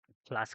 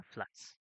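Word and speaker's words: flux: electric ফ্লাক্স electric ফ্লাক্স এফ এল ইউ এস ঠিক আছে ফ্লাস না ফ্লাক্স আবার এই ফ্লাক্স হচ্ছে খাবার ফ্লাক্স না ওটার উচ্চারণ হচ্ছে ফ্লাস এফ এস ফ্লাস ঠিক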